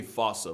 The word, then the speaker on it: fossa: to lemurs everywhere the fusa although with its spelling I'm pretty sure it's actually fossa but the day I pronounce it like that is the day I lay my childhood to rest the Foos is pretty